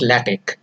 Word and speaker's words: LaTeX: and let it actually latex and it is pronounced as latex and it is a document preparation system with